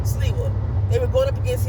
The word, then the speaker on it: Sliwa: Is it Sliwa or Sliwa? Sliwa.